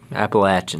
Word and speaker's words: Appalachian: um like the lower Appalachian Mountains. Appalachian. How do we say it again? Appalachin. Appalachin. People from North Carolina, Tennessee get real upset if you don't say it correctly.